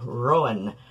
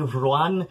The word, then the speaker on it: Ruadhán: The, second syllable in, Rowan should probably be Ruan, but I'm usually, like, just trying to aim for, like, what most people will adjust to, okay? Like, I can guarantee you, if I lived in a Gaeltacht region for more than a day, or, you know, like, and was, like, actively living there, I'd probably put extra emphasis on the second syllable.